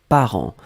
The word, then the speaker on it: parents: Donc le deuxième mot, c'était parent. Parent, on l'écrit au pluriel ici. P-A-R-E-N-T-S. D'accord? Parent, on ne prononce pas le T, on ne prononce pas le S, comme d'habitude.